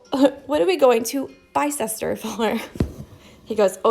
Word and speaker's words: Bicester: are we going to Bicester for?" He goes, "Oh, it's that's not where we're going. We're going to Bicester." And I was like, "Oh, definitely not how it's spelled."